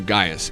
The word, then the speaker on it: Gaius: everyone with exception to I want to say Gaius isn't that how it's pronounced yeah everyone with exception to Gaius is going to be having an increasingly difficult